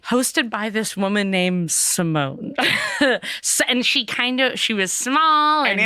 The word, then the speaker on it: Simone: And I was just like, well, also maybe because it rhymes with trombone, but I was like, but also Simone is so jazzy.